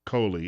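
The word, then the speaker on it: Kohli: this month Rita Coley she pronounces it Coley it's actually k-o-h-l-i no relation an education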